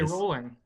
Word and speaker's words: Rowling: Now, my last question is, do you pronounce it Rowling or Rowling? Ooh, Because I've heard it both I ways. say rolling.